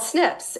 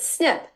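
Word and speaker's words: SNP: and those are called Snips and in the medical world they pronounce it snip without the eye but that's why the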